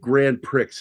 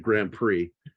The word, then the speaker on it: Grand Prix: like the whole when she said grand pricks instead of Grand Prix.